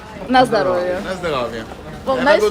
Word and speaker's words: na zdrowie: how do you say Nazdarovia? Na zdrowie.